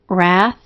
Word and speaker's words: wrath: upcoming reading of Romans the first two have silent letters a silent W and w r a silent K and K N and a c as s and the EI as long e try them now wrath knowing receive the first word divides